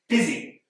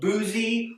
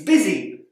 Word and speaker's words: busy: exactly how they're pronounced busy here we can see that the U does not make the sound that we might expect instead it makes an i sound it's not boozy or Buzzy it's busy word here the O